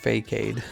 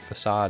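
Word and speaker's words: façade: holy cow man fake aid yeah that's right I mean but you know that's what it looks like that's how it's pronounced you'd have to here a facade and understand understand facade to realize that's what it is you know I don't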